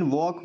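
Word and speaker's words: walk: Then वॉक। वॉक में L silent है।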